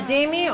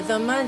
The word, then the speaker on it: dhimmi: A dhimmi, or a dhamma, depending on the pronunciation, is a tolerated people.